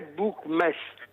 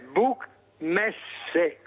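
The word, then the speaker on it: Buchmesse: al mondo credo comunque dicono book mess non è book mess è book messe perché fiera in tedesco si dice messe e in tedesco le parole si pronunciano tutte come in italiano Ciao Mirella grazie grazie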